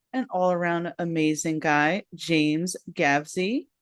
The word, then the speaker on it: Gavsie: allaround amazing guy James gavy how you doing today I am doing great especially because first of all thank you for that great introduction and you pronounced my last name correctly over the past month